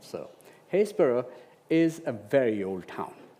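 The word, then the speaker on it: Happisburgh: family called the Hendersons in a town called Hayesboro Norolk. For those of our you know international audience that as I originally thought is not pronounced Hapisburg. Right. So Hesboro is a very old town.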